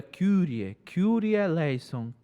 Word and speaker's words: Kyrie eleison: A pronúncia do grego é Kyrie eleison, Christe eleison e Kyrie eleison. Só que a igreja é latina, né? A igreja romana, católica. E aí, quando usou o latim, aí ficou essa pronúncia latinizada, Kyrie.